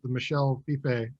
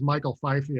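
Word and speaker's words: Michel Fiffe: that Copra, you know, the Michel Fife. Yeah. I used to think his name was Michael Fifey. I was so embarrassed. That wasn't how you say his name.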